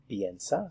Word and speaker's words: piensa: Notice that the sound for the IE is ye, ye.